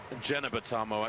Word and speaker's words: Jeneba Tarmoh: TARMOH of the USA, Jeneba TARMOH, and it is pronounced Jeneba TARMOH, actually, not Jeneba or Geneva.